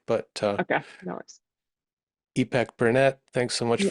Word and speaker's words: Ipek: It's pronounce it? Ipek.